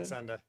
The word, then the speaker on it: Saxenda: don't know how to say the second one, Saxenda? Saxenda? Saxenda, yeah.